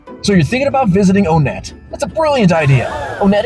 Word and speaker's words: Onett: thing we don't joke about is how to pronounce onet onet is the way to say the name of